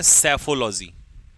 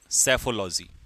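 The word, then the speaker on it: psephology: हारेगा इसे कहते हैं सेफोलॉजी पीस साइलेंट सेफोलॉजी ठीक है पैथोलॉजी क्या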